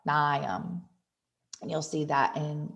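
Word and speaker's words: Mnium: Some of the mosses you'll see in lab are Polytrichum, that's how you say that, and Nium, kind of like Bill Nye, Nium.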